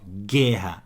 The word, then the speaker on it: guerra: era lá na guerra mas ó guerra não escutei o u dígrafo água escutei o